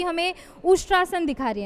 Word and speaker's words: उष्ट्रासन: ही बढ़िया हैं, लेकिन आज हेमा जी हमें उष्ट्रासन दिखा रही हैं, राइट? सही प्रोनाउंस किया मैंने? Yes ma'am, correct. उष्ट्रासन।